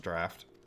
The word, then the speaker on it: draught: I don't think that's how you spell draft, but whatever. Like, in terms of drinking, I'm pretty sure it's D-R-A-U-G-H-T. Still pronounced draft.